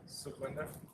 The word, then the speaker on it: Sukhwinder: Sukhwinder. Sukhwinder? Yes. Spell that one.